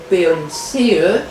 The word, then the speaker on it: Pons: y a plusieurs autographes ça s'écrit P o n s ou ponce a dû donner cet